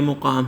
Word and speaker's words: مقام: کے اوپر زبر اور میم کے اوپر جزم، یہ مقام ہے۔ مسافت، میم کے اوپر